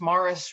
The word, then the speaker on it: Maurice: uh glassblowing although the maurice river which is maurice but look locally pronounced morris river has some of the